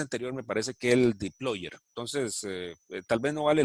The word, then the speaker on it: dplyr: Pero es dplyr. Y creo que se pronuncia deployer.